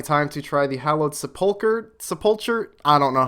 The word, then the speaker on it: Sepulchre: filled in time for a first run-through the sepulcher I looked it up that's how to pronounce Sepulchre just so everyone knows and yeah